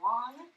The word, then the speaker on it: Wang: my name is Wong last name pronounced long and I I was